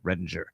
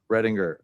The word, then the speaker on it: Readinger: Redinger. I know. Redinger. Everybody says it. I don't really care, but I think we just want to pronounce the G as a J because it's, it's like Berenstein and Berenstain.